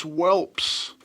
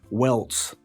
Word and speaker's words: welts: So this is one that I hear quite a bit. He's saying that he's got whelps on his skin. Obviously, we know he means welts with a T.